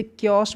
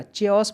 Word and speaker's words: chaos: इसे क्योस बोलिएगा, च्योस मत बोल दीजिएगा, CH को चा नहीं पढ़ना है, का पढ़ना है ना, ध्यान दीजिएगा।